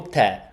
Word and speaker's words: tè: It's with the grave accent. Tè. No, I don't know if it's a problem with your keyboard, Mladen, but it's tè con l'accento grave, which surprises me because I thought that it would be... Yeah. It's to make it different from te, which is you, right?